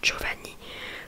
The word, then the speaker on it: Giovanni: Le prénom Giovanni, comme vous pouvez voir au début ça s'écrit G-I-O, du coup pour que ça fasse pour que ça fasse le son Joe.